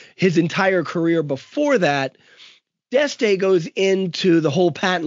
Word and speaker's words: D'Este: D'Este.